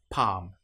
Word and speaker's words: palm: Another one that you might come across is when you have L M together. An example might be palm. In this case, the L you will notice is not pronounced at all. Palm or calm.